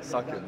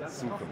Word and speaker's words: suchen: And a lot of NA people say suck it, not suchen.